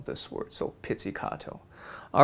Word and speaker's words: pizzicato: o at the end so think pizza cat that would help you kind of memorize how to spell this word so pizzicato all right so we're